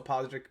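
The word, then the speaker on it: Pádraig: to I'm going to refer to him the way he wanted to be referred to which is in the Irish uh pronunciation so padrick Pierce and James Conley Patrick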